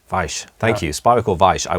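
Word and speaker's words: Weich: Vike. Vike. Thank you. Spiracore Vike. I will try and correct that in future. But most people say, in the States, they say Vikes.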